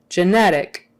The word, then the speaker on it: genetic: right I think and when it's not a stressed syllable like genetic genetic that first syllable can kind of be a jit or a j people won't notice it so much but that middle one since it's stressed genetic it can't be genetic it can't be genetic